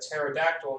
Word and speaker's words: pterodactyl: can't you hear a pterodactyl in the bathroom why can't you hear a pterodactyl in the bathroom I don't know because the P is silent oh my goodness oh